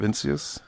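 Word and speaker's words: Vinicius: Maybe I'm it's pretty sure I maybe don't- the second eye is silent. It's Vincius. Vincius?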